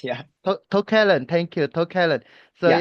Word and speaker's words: Tokalent: How do I pronounce the name? Tokalent, yeah. Tokalent.